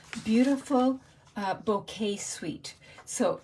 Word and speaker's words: Bokeh: you were interested so it's bow and K but the emphasis is on the bow part I can mispronounce so